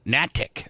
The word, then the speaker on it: Natchik: Eileen Natchik. So the H is silent.